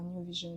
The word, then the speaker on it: NyouVision: Et le New de Newdan, c'est ce que j'ai pris pour faire New Vision. Donc c'est N-Y-O-U et non pas N-E-W. Et du coup, ça fait New Vision, comme le jeu de mots en anglais, Nouvelle Vision.